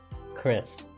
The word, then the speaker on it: Chrys: is sh uh Chris Chris the guy Shake CO's head at my name tag huh so it's pronounced like Chris but you spell it like chrysanthemum that's pretty sick hold